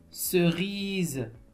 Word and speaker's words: cerise: entendez le son ze vous dites OUI OUI cerise écoutez bien cerise oui oui le la lettre S elle se